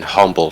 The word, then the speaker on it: Humble: Like people cut out the H in Humble, Texas. She Pronounce it as Humble, Texas instead.